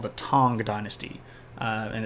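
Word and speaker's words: Tang: the ruling dynasty in China is called the tong Dynasty uh and it's spelled tank like the orange drink I just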